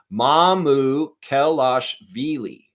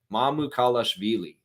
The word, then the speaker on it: Mamukelashvili: All right, and I want the pronunciation. Mamukelashvili. Mamukelashvili.